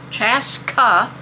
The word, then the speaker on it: Chaska: Maybe that when I say it that way, they'll get it right. Chaska is spelled C-H-A-S-K-A.